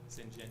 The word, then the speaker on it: Syngenta: Has Syngenta, how do you pronounce that? Syngenta. Syngenta, have they done anything to remedy the initial issue?